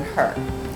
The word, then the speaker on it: Hur: my chef and also his last name is hur but it's pronounced as in her so there's a little